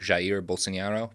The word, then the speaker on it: Jair Bolsonaro: I believe it's supposed to be something like Jair Bolsonaro.